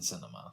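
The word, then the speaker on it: Sinema: Every time I think of the last name Cinema, I think of movies, but I don't think it rhymes with enema.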